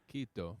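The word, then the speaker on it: Quito: Kito, it's called Kito.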